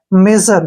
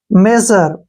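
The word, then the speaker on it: measure: जर यानी कि मेजर अब ये ध्यान रखना है जब भी एस यू आता है और उससे पहले वावल होता है तो एस का उच्चारण ज के रूप में होगा ठीक है ना मेजर क्या पढ़ेंगे इसको मेजर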